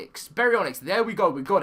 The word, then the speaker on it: Baryonyx: This is how it's pronounced. Baryonyx. Baryonyx.